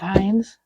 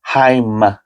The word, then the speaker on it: Hein: There's a whole family of Heinz. Heim with an M. Nope, this was a Hein. Spelled the same.